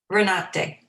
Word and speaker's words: Renate: Sheriff Renate, is that how you pronounce it? Renate.